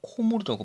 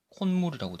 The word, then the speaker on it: 콧물: 코와 물이 만나면요, 발음이 분명히 코물이라고 발음을 해야 되는데 이상하게 발음을 하면은 콧물이 돼요. 이상하죠? 코물이라고 발음하는 사람 없어요. 콧물이라고 되지.